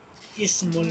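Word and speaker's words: اسم: Ismul waladi bilalum. Ism. Here I pronounce kasra under alif. I pronounce ismu.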